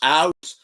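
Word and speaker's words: Aass: It's spelled ass with just like 1 extra A at the beginning, but it's actually pronounced aus.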